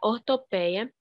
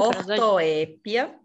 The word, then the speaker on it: ortoépia: O estudo da acentuação das palavras envolve o estudo da ortopeia e da prosódia. É isso? Ortoépia.